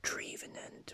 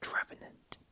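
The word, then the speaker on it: Trevenant: pronounced it's actually pronounced trevon and i always pronounce it driven end because it's a tree so driven it but actually it's travenant next is pangoro penguro obviously coming from panda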